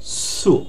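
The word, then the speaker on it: つ: আর উপরেটাকে এটা আছে তা, তারপর চি, এই যে এইটার উচ্চারণ হবে টি এস ইউ, সু সু।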